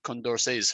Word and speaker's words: Condorcet: pronounce the mass t condor says french and the last t in a french name is often not pronounced uh right likes uh